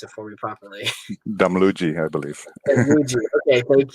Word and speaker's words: Damluji: Actually, I realized that I did not ask how to pronounce Mona's last name, so perhaps you can pronounce it for me properly. Damluji, I believe.